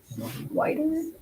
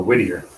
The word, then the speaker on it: Whittier: It's the Whiter murders? Let me see. Oh, Whittier. Whittier.